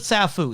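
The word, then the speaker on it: Sapho: the juice of safu it says in the subtitle sappho but he pronounces it safu so i'm just gonna roll with that go for it the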